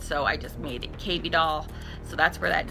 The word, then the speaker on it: KB Doll: L to a B, and it rhymes with baby doll, and so I just made it KB Doll.